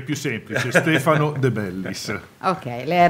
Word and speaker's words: Stefano De Bellis: è Gaggo Fiorillo pronunciato da me. No, il mio è più semplice, Stefano De Bellis.